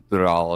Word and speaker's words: Tural: the way I do, Tural and all of that. Like I can say it like that. I know. People are like, you don't have to roll the R.